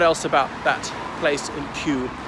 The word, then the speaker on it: Kew: What else about that place in Kew? Spelt K-E-W, but pronounced Q, like the letter Q.